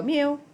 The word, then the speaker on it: mu: here this Greek letter that is pronounced mu as in the sound a kitten makes everybody go Mew me great now sound